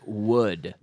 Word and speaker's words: would: A lot of people have problems with this would. So the secret is you can pronounce this w sound the same as you say huevo in Spanish, right?